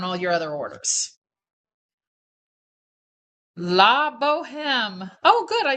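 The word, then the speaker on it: Bohème: Don't pronounce the H.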